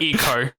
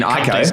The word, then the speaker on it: Ico: It's better than Eco. I do not know what that game is. That was the first of these. You mean Ico?